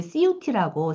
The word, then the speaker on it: CIUTI: 그 다음에 세 번째도 역시 CUT라고 CIUTI인데 읽을 때는 이제 CUT 이렇게 발음을 해요.